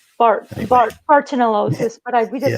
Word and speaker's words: Bartonellosis: How was that pronounced? Bartonellosis, but we just say Bartonella, however you want to.